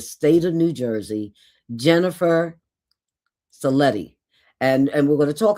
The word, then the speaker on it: Sellitti: So I pronounce it Sellitti, even though it's spelled like Sellitti.